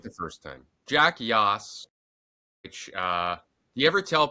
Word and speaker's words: Yoss: Jack Yoss, which, do you ever tell people, are they like, how do you pronounce it? And you're like, just like Yoss Queen.